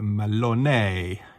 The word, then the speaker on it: Malone: So his surname is pronounced in the Irish way, but I'll pronounce it kind of in a sort of Italian way. So Dr. Robert Malone, if you know what I mean.